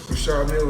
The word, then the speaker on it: Richard Mille: No, I like to call this, well, people pronounce them different ways. Richard Mille is what my jeweler told me, so. That's exactly how you say it, Richard.